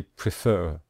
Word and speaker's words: prefer: you can see here we stress the final syllable when we say prefer we say prefer so